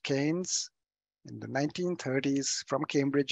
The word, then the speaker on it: Keynes: economy and lightning overview so canes pronounced King I'm sorry k e y m yes pronounced Keynes in the 1930s from